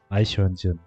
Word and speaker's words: Eichhörnchen: Eichhörnchen. Squirrel. But maybe the pronunciation of my squirrel is always horrible.